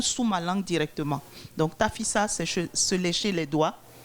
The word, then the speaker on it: Tafissa: Jusque-là, je n'ai pas prononcé le mot tafissa.